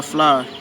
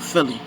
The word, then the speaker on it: Phlie: And the people probably like, oh, a lot of people think it's spelled Philly. P.H.L.I.E is not Philly. It's Fly.